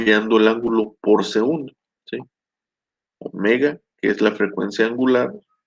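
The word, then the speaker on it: ω: nos está diciendo la omega, se escribe con W, pero se pronuncia omega, nos dice cuántos ciclos por segundo, ¿sí?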